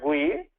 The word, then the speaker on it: GUI: So business analyst put that in a, this is pronounced as GUI, and business analyst draw this GUI.